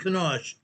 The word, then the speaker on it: Kanosh: And the proper pronunciation for that town is called Kenosha. K-A-N-O-S-C-H. Kenosha, Utah.